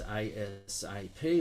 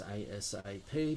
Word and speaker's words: ASAP: it's a glossary item it's going to be pronounced as asap or read out as asap but it stands for